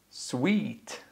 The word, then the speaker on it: suite: Sweet.